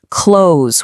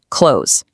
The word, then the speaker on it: close: For example, it's not close with 2 clunky syllables. It's actually one smooth sound, close.